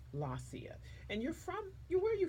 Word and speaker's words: Lossia: And so we're here with just say your name for me so I can get the correct pronunciation. Lossia. Lacia.